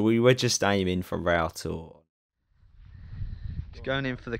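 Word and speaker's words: Rough Tor: so we're here at rough tour we're informed by a local in the pub that is actually pronounced router which is this little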